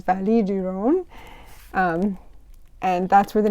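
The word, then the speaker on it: vallée du Rhône: pretty famous in history in French though you would say it as vallée du Rhone and that's where the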